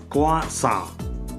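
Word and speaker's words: croissant: எல்லாம் அதிகமா விக்கிற பொருள் இது கிராய்ஸ்ன்னு வாங்குறதுக்கு பேரு குவாசா குவாசா இது இதை வந்து ராஸ்பெரின்னுவாங்க ராஸ்பெரி இதுக்கு வந்து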